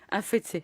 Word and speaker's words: Afetse: Comment on prononce votre nom, Afetse ou Afet? Afete. Afetse, Oui.